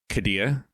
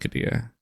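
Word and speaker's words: Qiddiya: Kadilla. I believe I believe it's pronounced Kadia.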